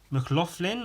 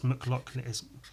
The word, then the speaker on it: McLoughlin: say my name's mcloughlin they're like mclaughlin or what was that no it's mcluck m-c-l-a it's it's a [